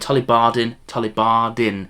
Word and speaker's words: Tullibardine: Over there, right on the other side then, we have the Tullibardine, and I'll keep saying it with a Scottish accent, Tullibardine. I'm really trying hard to say that properly because, that's the whole point.